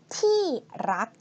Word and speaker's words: ที่รัก: If you want to sound more like Thai, we don't like to pronounce rr.